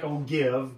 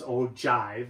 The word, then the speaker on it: ogive: So that's called an ogive. It looks like ogive, but it's ogive. It's a J pronounced the G, and then so here we